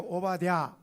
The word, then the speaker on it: 오바댜: 자 오늘 말씀의 제목은이 오바다가 아니고 오바다죠 발음이 좀 어렵죠 해볼까요 오바댜 다시 한번 오바댜라는 뜻이 우리나라